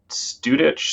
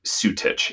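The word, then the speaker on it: Anthony Sutich: humans can have right and groff fatiman anthony studich sutra studic is that right i i always mispronounce his name but yeah um they got together um and developed um transpersonal psychology um and he sutich yeah he um i think he was swiss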